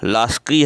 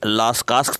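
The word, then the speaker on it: Lascaux: तो ये लास्की है, थोड़ा सा उच्चारण में लास्कास दे दिया गया है।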